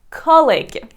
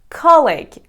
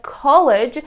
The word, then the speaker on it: colleague: which is colleague colleague most of my students get confused when it comes to per pronounce this word they pronounce it like college but they have two different pronunciations and you should be careful about it well colleague is used